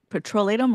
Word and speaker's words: petrolatum: We've been saying it wrong for years. We say petroleum jelly. It's actually Petrolatum, right?